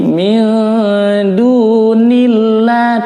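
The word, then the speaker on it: مِنْ دُونِ اللَّهِ: Nah, sebelum lafaz Allah ada huruf berharakat kasrah, maka dibacanya tipis ya, tarqiq bukan tafkhim, dibaca tipis atau lam tarqiq. Jadi bacanya jangan min dunillah, bukan niwah, tapi min dunillah, tipis, mudah menyebutnya dibanding kalau tebal atau kalau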